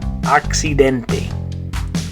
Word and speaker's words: accidente: the word accident, in Spanish it's the word accidente. Accidente. So in English you have accident, in Spanish accidente. Okay, so in English you'd say accident, in Spanish how would you say it? Accidente.